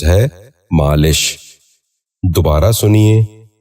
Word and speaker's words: مالش: بھی غور سے سنیے، لفظ۔ پانچواں لفظ ہے مالش۔ یہ غلط تلفظ ہے، درست تلفظ ہے مالش۔ دوبارہ سنیے، مالش۔ بچوں آپ بھی غور سے سنیے، مالش۔ چھٹا